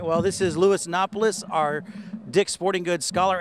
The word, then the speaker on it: Napoles: the air real quick we're talking about the name Louis innopolis that's the pronunciation what other night names have you been given in the past I've been given Napoli's Naples some people call me